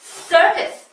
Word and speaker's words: circus: 그리고 정말 신기한 게 발음이 어때요? circus. C가 두 번 나왔는데 앞에 C하고 뒤에 C하고 다르죠, 소리가? 첫 번째는 S, 두 번째는 circus. 이렇게 나왔잖아요. 그 이유가 바로 뒤에 오는 글자들이 달라서 그렇다는 거예요.